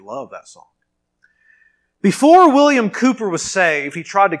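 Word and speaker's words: Cowper: a man named william calper i think actually you pronounce his name cooper though it's it's written calper william cooper wrote that song it's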